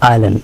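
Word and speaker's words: island: আইসলে বলি আমরা বলি আইল্যান্ড।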